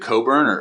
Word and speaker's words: Coburn: Is it Coburn or like is there a special way to say it? No, you're good. You're good. You actually said it correctly.